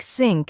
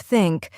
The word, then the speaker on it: think: And one way to fix it is to place your tongue lightly between your teeth and blow air out when saying TH.